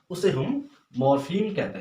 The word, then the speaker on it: morpheme: इसको हम अगर प्रोनाउंस करें तो इसको मॉर्फीम कहेंगे।